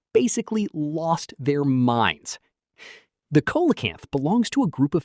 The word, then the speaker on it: coelacanth: Meet the coelacanth. Pronounced seelacanth.